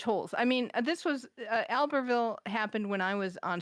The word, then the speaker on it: Albertville: have an issue because I would pronounce it Albertville. Oh, yeah. Probably we should be pronouncing it Albertville. So before January, we have to get, if you and I have to decide, are we going to use the English pronunciation or the French pronunciation?